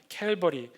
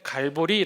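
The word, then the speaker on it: Calvary: 칼 발이 아라가 되고 그것을 영어 식으로 발음하면 캘 벌이 우리 신앙의 선배들이 그 발음이 안되서 그냥 갈보리 라고 했던 거예요 자 해골의 곳 골고다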